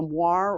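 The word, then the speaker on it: moiré: They're talking about the moire, or moire, as it is sometimes pronounced, and it's these pants.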